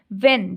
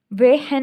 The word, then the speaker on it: when: वेन, WHEN, वेन, वैन, वेहन नहीं बोलते हम, वेन बोलते हैं, तो इसमें से एच जो है वो क्या है, साइलेंट है।